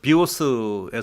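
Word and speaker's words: βιός: 바이오 아아 이게 이제 비오스의 온 거과 고대 그리스어에서 온 건데요 그 되게 재밌어요 예 비오스 이렇게 발음하면 활이라는 뜻이 되고요 비오스 하면은 생명이 돼요 똑같은 단데 어 강세 어디에 두냐에 따라서 그래서 헤라클레이토스는 철학자가 이런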